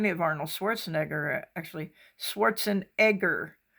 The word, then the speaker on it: Schwarzenegger: Schwarzenegger. That's the way Arnold says that you should pronounce it. It's not Negger, it's Egger.